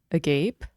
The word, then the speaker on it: agape: I believe this is pronounced agape, the flame, the orphan, the village.